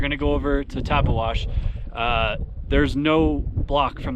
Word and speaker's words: Tabeguache: idiot for years and behind me I've been saying tagashi how do you say it taba it's actually taba wash so not even close but anyway that's where